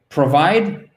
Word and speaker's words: provide: exécutif fort hyde provide provide provide accent tonique sur la deuxième seconde s'il avait pas la